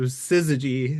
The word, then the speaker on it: Syzygy: So, Sizzy is the correct pronunciation, right?